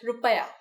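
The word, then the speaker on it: रुपया: In India, the currency is the Indian rupee, but we pronounce it differently. We call it rupaya.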